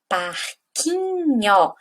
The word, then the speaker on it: parquinho: Também a palavra parquinho, parquinho, ela também é paroxítona. Por quê? A sílaba tônica de parquinho é o qui.